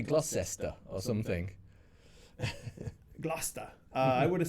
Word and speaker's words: Gloucester: Gloucester. Gloucester. Gloucester, governor. Were you going to say Gloucester or something? Gloucester.